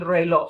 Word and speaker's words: reloj: El reloj. Sounds like an O at the end, right? The J is silent.